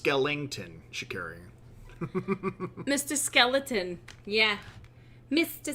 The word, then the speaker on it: Skellington: Also, it's pronounced Skellington, Shikari.